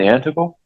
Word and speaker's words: Antigo: Hildebrand, are you still in Antigo? Yes, I am. Okay. Yeah. 202 Hudson Street? It's pronounced Antigo.